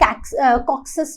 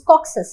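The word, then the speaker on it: Caucasus: अब क्या है कि हमने देखी है कि कॉक्सस माउंटेन्स है, ठीक है, the correct pronunciation is कॉक्सस, right. सो कैक्सस भी पढ़ सकते हो, but more I कैन say more appreciated one इज द कॉक्सस।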